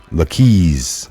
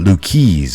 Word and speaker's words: Lucchese: that local some automatically Lucky's all right the keys I'm saying it wrong I didn't think that was like Luke Issa but Luke keys all right so the